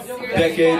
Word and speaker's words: DEKAD: And the correct pronunciation of the company name is DEKAD LIFESTYLE. It's the phonetic spelling of the 10-year period.